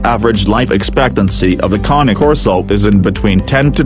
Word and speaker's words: Cane Corso: However, in terms of energy levels, a KAH-NAY KOR-SO is far more energetic as compared to a Bull Mastiff. So 1 point to KAH-NAY KOR-SO.